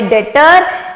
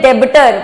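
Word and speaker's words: debtor: चुन्नू मुन्नू हुए हमारे डेटर and please इसमें बी साइलेंट होता है बच्चे बोलते हैं डेबिटर वो गलत है इट्स डेटर बी is silent ठीक है एंड क्रेडिटर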